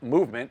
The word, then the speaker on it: MVMT: clean original designs and vmt pronounced movement grew into one of